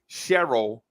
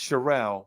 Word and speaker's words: Sherelle: Hey, so back in the day, all the girls my age name Cheryl changed their name to, don't pronounce it Cheryl. It's pronounced Sherelle. Sherelle.